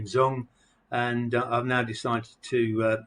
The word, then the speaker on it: Dung: in vietnam and her name was miss zhang pronounced zong z-u-n-g but spelt with a d with a